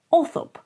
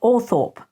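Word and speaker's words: Althorp: Now he goes on to talk about Orthop, and he says that it is actually pronounced Orthop, not Orthorpe.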